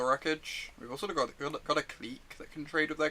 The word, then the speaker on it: Clique: I think I've been told off for saying Clique instead of Click, in fact.